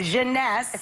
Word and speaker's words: Jeunesse: called instantly 8 ageless what's the company honey pronounce the Jeunesse Jeunesse sweareth Lakers and it's less than $75 retail